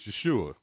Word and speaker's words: Yeshua: on the last syllable the messiah's name is yeshua with the emphasis on the you which is pronounced ooh as in the word soon the name yeshua is